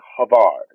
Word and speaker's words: Harvy: It is actually Havard. Havard. Hazard. Havard Blank. I've been saying it wrong all these years.